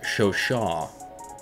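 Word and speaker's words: Chauchat: to my comment section i believe it's pronounced show shaw see you are teaching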